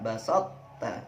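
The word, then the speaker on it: بَسَطتَّ: Berikutnya juga idgham mutajanisin, pertemuan sukun ta: basat ta basat ta.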